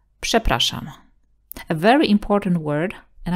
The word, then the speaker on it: przepraszam: But also rz will have the same sound if it's next to a voiceless consonant or at the end of the word. Przepraszam. Excuse me, who is this? Would be przepraszam, kto to jest?